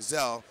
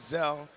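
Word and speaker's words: Zelle: mobile banking app featuring zel that's another way and/or it so it's pronounced cell because I see the new commercials and it's gonna be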